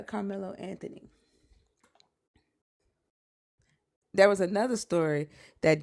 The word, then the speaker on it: Carmelo Anthony: ain't that his name, Carmelo Anthony? Did I say his name wrong? No, you said Carlos Carmelo. Did I say Mm. Carlos? You said Yeah, Carlo. Yeah. yeah, Carmelo Anthony.